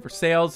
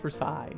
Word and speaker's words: Versailles: it is pronounced Versailles it is a place and I believe France so it is pronounced for side being Canadian I should